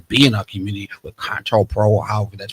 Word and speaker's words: COINTELPRO: specifically designed to be in our community with COINTELPRO, or however that's pronounced. COINTELPRO.